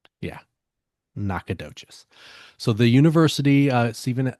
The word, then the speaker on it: Nacogdoches: the town, but yeah, they they do pronounce it different. So, this is Nakadocious. Yeah, Nakadocious.